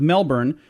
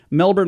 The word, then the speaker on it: Melbourne: 16-year-old Kyle Ryan of Melbourne I always thought it was Melbourne but I talked to a guy from there he's like no you're saying it wrong Melbourne Australia he said several of